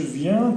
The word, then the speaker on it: viens: نجي je viens, tu viens, نردو البال I-E-N, ça prononce ien.